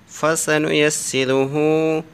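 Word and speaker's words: فَسَنُيَسِّرُهُ: फ़ा ज़बर फ़ा, scene ज़बर सा, फसा, नून पे स्नू, फसनु, या scene ज़बर यस, फसनु yes, seen there सी, फसनु यस्सिरी, रा पे स्रू, फसनु यस्सिरू, हा उल्टा पे सू, फसनु यस्सिरुहु लिलयुस्रा।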